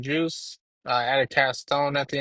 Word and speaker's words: Jeuse: If I'm going to go by Juice, I'm going to spell it different."